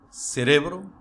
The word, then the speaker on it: cerebro: Vejamos: democracia, cerebro, imbécil, imã, álcool, alguien, alergia, cráter, elogio, academia, atmósfera, fútbol, gaucho, límite, oxígeno, régimen. Viu que a sílaba tônica é diferente de como se pronunciaria essa palavra em português?